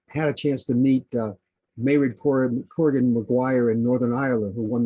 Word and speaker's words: Mairead Corrigan Maguire: Mairead Corrigan Maguire.